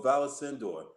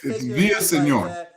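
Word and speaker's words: Villaseñor: And so now we've got Chief Valesindor that will talk with us about community policing. Chief, how you doing? First of all, am I pronouncing your name correctly? Kind of close, Mr. Haney. It's Via Senor.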